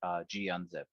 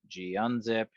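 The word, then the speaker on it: gunzip: cyber chef and then a g unzip or gun zip however you want to say it i think gun zip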